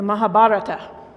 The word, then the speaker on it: Mahabharata: The Mahabharata emphasis on the third syllable. Mahabarata.